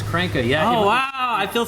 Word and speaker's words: Kranke: I always thought it was pronounced Cena. Kranke. He always pronounced it as Kranke, yeah.